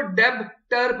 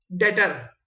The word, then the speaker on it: debtor: Credit, या डेटर DEB, कुछ लोग इसको डेबटर पढ़ते हैं, इसमें बी साइलेंट है, डेटर DETOR डेटर 9,000 और सेल्स 9,000 से क्रेडिट कर दी जाएगी।